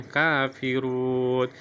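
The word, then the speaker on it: كافرون: Maka dibacanya kafirun. Ini bisa dibaca 2 harokat, bisa dibaca 4 harokat, bisa dibaca 6 harokat.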